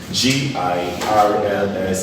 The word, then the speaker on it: girls: days Weis instead it's SEO these are concerns GI RLS is pronounced as girls Y support girls why not